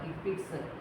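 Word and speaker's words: HCPCS: we have the scps called hpix you can pronounce like hpix there are three questions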